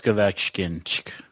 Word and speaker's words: Ovechkin: Like when you look at Washington, Alex Ovechkin.